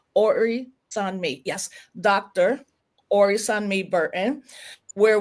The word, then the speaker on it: Orisanmi: Orisanmi.